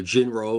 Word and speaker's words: Jin-Roh: So jinro or jin and this is why we call him uncle T, professor T aka our foreign correspondents because of stuff like this.